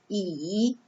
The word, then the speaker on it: 椅: So together, this chair is pronounced as 椅 in Chinese.